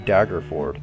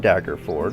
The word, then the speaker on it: Daggerford: So the first thing that happens while you're in Daggerford, I think it's how you say it, Daggerford. Where is it? Hard. Fjord? Yeah, Daggerford. Fjord. It's like a ford and a dagger combined, Daggerford.